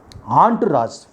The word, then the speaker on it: entourage: That word is so many silent letters are there in foreign expressions, mainly in French origin. The word, the right pronunciation is entourage. ENTOURAGE, entourage.